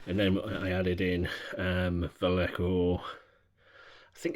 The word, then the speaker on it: Vallejo: So I used a mixture of Vallejo colours, or Vallejo, however you want to pronounce it, to produce the green.